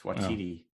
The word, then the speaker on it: Waititi: That's Waititi.